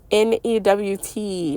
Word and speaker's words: Nut: Newt is how you pronounce it, like Newton, okay? But a lot of people call her Nut, and she is also directly connected to Neath.